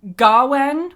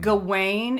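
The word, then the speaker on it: Gawain: Gawen, which is pretty similar to whatever they're saying, um, is the Welsh pronunciation. Gane is the French pronunciation.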